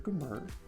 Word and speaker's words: Gmur: I get Gmur, Gmur, Gmur, which is why I say Mr. But I also say Mr. Gmur. It's Gmur.